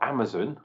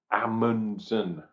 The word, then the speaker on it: Amundsen: that's how it's spelt it's not amazon like i'm sure a few of you thought the other day um no this is a amundsen there we go really